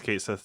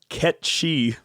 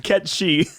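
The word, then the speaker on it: Cait Sith: not he's googling no i thought it was kate seth too yo what if i told you it was ketchy what yep yeah so i mean it's pronounced ketchy i mean japanese it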